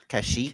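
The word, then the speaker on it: Kashyyyk: What is the Wookie's home world and how do you pronounce it? Kashik.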